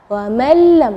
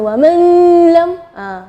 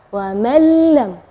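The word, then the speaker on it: وَمَن لَّمْ: Ya, di situ kita bacanya wa mallam ya, jadi huruf nunnya tidak ada, atau kita dibilang idgham ke huruf berikutnya dan gunnahnya tidak ada, wa mallam ya.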